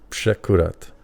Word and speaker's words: Przekurat: But My grandmother taught me to say Przekurat. That's how it's pronounced. Oh, really? In Polish, yeah.